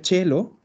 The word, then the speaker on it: cielo: en particular la parece se pronuncia chelo igual cielo y significa cielo pero acá les decía